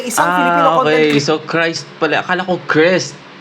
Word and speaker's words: Cris: First time yata gumamin si Christ Brian isang Filipino cont. Okay. So Christ pala. Akala ko Chris. So Christ pala yung bigkas sa pangalan niya.